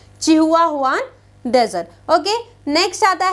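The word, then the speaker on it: Chihuahuan: Okay, चलिए सबसे पहले चिहुआहुआन डेजर्ट की अगर हम बात करें, यू कैन गो फॉर the pronunciation. Okay, from my side it is said as चिहुआहुआन desert.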